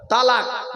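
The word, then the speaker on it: طلاق: শব্দটা বলে তালাক। খবরদার শব্দটা তালাক নয়। তালাক নয় শব্দটা। শুনে যান শব্দটা হলো তলাক তলাক কি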